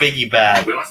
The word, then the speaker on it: Biggie Bag: It's Biggie Bag. There you go. That's how you pronounce it.